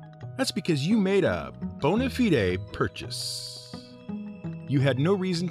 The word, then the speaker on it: bona fide: all out with a bonafide three-parter oh and note our pronunciation it ain't bone fide it's latin bona fide means good